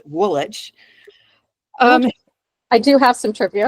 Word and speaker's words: Woolwich: So at Woolwich Arsenal, and it's spelled Woolwich, but in England, when there's a witch, you drop the W, or when there's a wick, you drop the so Chiswick is spelled Chiswick, Woolwich, pronounced Woolwich.